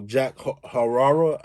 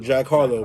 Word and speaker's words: Jack Harlow: and that's why i respect um you know jack hararo are part of saying his name wrong that that knew that kayla came up